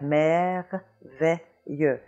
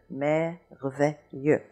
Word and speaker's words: merveilleux: So we have merveilleux, merveilleux.